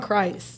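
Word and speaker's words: Crist: of you may be, or is it John Christ? No, you said it right. He is a Chris. Christian comedian, so it gets a little confusing. Yeah, that's why. Yeah. But it's Chris.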